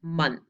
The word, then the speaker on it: month: and the second one month this one is tricky because it sounds like a short u it sounds like uh but it's not check it out together